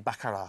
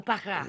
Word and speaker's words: Baccarat: Along with, you don't pronounce it Baccarat, sorry, I do beg your pardon. Oh, Baccarat.